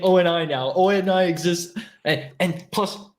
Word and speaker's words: ONI: Yeah, at least say it right. Say Oni. Don't say ONI.